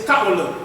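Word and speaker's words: قول: If you take the term word in Arabic, it's qawlun. Qawlun, that's how you say it in Arabic.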